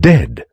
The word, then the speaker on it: dead: Beware of herd, a dreadful word that looks like beard and sounds like bird, and dead. It's said like bed, not bead. For goodness sake, don't call it deed.